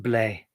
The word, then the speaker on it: blé: The French for wheat is BLE acute. And I think it's pretty much pronounced blé.